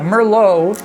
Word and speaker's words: Merlot: But yeah, Merllo. That's a kind. Did I mention that? That's a kind of wine. So, yeah, obviously it is. But lo in French, you have to pronounce that low.